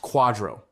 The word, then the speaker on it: QDRO: It's called a qualified domestic relations order or QDRO, pronounced quadro, by lawyers who enjoy torturing you linguistically as well as financially.